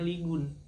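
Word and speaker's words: 이곤: Tulisannya emang Ligon sih, tapi bacanya Ligun.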